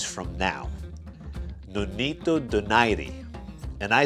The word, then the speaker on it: Donaire: bring it guess what two days from now no need to deny D and I say deny D just because that's how it's pronounced in Filipino language I know a lot of people say Denair but I say denied